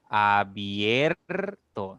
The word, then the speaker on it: abierto: La I es cerrada, la E es abierta, por lo tanto, al pronunciar esta palabra permite que tu boca se abra un poquito más entre la I y la E. Por ejemplo, abierto, se abre un poco más en la vocal E.